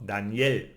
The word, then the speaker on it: Daniel: examp example in name Danielle no Daniel no we say l at the end so Daniel no and